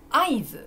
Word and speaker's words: 合図: たが答えですちょっと変な読み方じゃないですねそんなに変じゃないですよ大丈夫覚えられます合図この感じです